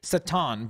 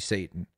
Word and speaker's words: Satan: Satan or is it sottano Satan because I always used to say certain but then apparently in English it's actually Satan it well in English